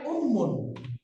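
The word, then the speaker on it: أُمٌّ: যাচ্ছে মাকে আরবিতে বলে উম্মুন উম্মুন কি উম্মুন উম্মুন মা উম্মুন উম্মুন আমার সাথে পড়েন তো উম্মুন উম্মুন উম্মুন উম্মুন মিমের উপরে তাসদিদ আছে তার মানে এই মিমটা দুইবার উচ্চারণ করতে হবে উম্মুন উম্মুন উম্মুন উম্মুন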